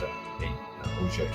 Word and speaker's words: Auge: than it is a French word, but it's pronounced a huge.